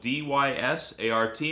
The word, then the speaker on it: Dysart: Belongs to a place that's spelled D-Y-S-A-R-T and it's pronounced Dysart.